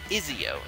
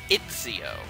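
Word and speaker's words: Ezio: And in my Sonic Colors review, I call the main character of Assassin's Creed Izio instead of Itzio, which, as I was told, is how it's pronounced.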